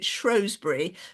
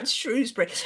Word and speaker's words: Shrewsbury: difficult to pronounce because I was brought up to pronounce it shury which I think is not how it's I think that's kind of rather Posh Shrewsberry anyway um it's in